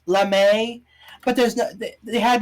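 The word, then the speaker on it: lamé: craft foam and some lame fabric okay I know it's supposed to be pronounced lamay but there's no they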